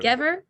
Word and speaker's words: Sutskever: Sutskever?